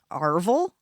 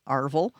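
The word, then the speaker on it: arval: Funeral guests received this cake called Arville. I'm assuming that's how you say it. A R V A L. Arville, which were spiced sweet bread or cakes wrapped in paper and sealed with black wax.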